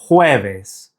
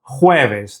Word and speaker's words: jueves: To say Thursday in Spanish, it's jueves. Jueves. That J in Spanish is pronounced like an H.